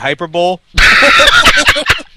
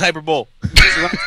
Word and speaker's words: hyperbole: You would have mispronounced it like I do and called it hyperbol. Yo, I love that game. Yeah. Yeah. I don't have to listen to all this hyperbol.